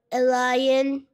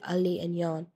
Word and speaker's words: Aliyaan: they say at Starbucks Elion Elion it's really not that hard to be honest it's like Ali and Yan exactly it's Ali Ali